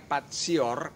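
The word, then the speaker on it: patior: dari kata bahasa Latin tulisannya Pati or Hai membacanya patsy or katanya dan artinya saya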